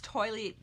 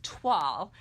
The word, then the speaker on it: toile: of part of this toilet. Okay, I said it wrong again. I always want to say it the wrong way, but it's TWAL.